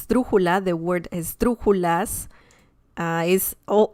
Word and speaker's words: esdrújula: a struggle a word because we have the he this syllable is the third to last one so it's so this is the last one then this is the second and this is the third one so yeah it's crazy